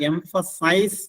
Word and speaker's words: emphasis: വെർബായിട്ട് ഉപയോഗിക്കുമ്പോൾ എംഫസൈസ് എന്നാണ് അതിന്റെ ഉച്ചാരണം. നൗൺ ആയിട്ട് ഉപയോഗിക്കുമ്പോൾ എംഫസിസ്. അതിലൊരു ഇ കുറവാണ്. എംഫസിസ്.